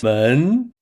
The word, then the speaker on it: 门: When pronounced, it's 门 To firmly grasp this pronunciation, we've crafted a clever visual aid.